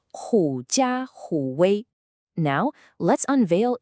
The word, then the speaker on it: 假虎威: The idiom you see here is pronounced Jiǎ Hǔ Wēi.